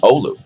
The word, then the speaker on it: Oulu: Finnish viewers thanks for teaching me how to pronounce Oulu now Oh Lu does see an uptick over the past two